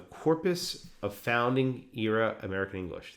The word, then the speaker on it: Corpus of Founding Era American English: Our work relied on the Corpus of Founding Era American English. The Corpus of Founding Era American English. It's abbreviated to COFEA. COFEA, C-O-F-E-A, it rhymes with Sophia.